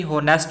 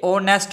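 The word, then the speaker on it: honest: उसके बाद एच, ये इसको अगर अपने वैसे देखें तो ये लगता है कि होनेस्ट बोला जाएगा, तो ये होनेस्ट नहीं, ये ओनेस्ट बोला जाएगा, ओनेस्ट।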